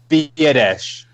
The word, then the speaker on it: Biadasz: Biadasz. Well, Yep. In my mind, it's better because I always thought it was badass, like a Boston guy saying badass, right?